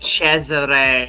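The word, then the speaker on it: Cesare: and German expressionism half his protagonist are basically Cesar from Caligari for example but Burton had and it's pronounced Chzure always had ties to children's media he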